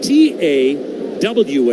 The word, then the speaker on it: Tawa: You spell his last name T A WA. It is pronounced Tawa.